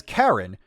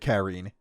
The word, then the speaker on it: Karin: Joshua pronounces his sister's name as Karen, when it's spelled like the English spelling of the Japanese name Karine. It's written Karine in katakana, and I'm pretty sure other dubs have said Karine.